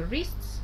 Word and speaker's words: wrists: В слове wrists W не читается, запястье.